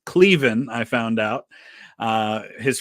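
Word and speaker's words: Cleven: that's uh clevin who whose name is actually pronounced cleen I found out uh his family members who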